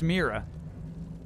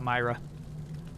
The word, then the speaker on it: Mira: oh yeah yeah typically I know it should be pronounced Mira however the game itself pronounced it Myra already there was some sort of narrator talking about Myra seems to be a